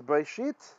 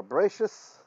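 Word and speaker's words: בראשית: to Daniel this morning, is Breshit, or Breshis in the Ashkenazi pronunciation, chapter 28, verse 10, through chapter 32, verse 3.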